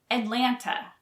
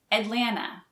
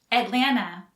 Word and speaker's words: Atlanta: pronounce the second t atlanta but many locals don't pronounce the second t so they say atlanta it's correct either way atlanta atlanta atlanta is a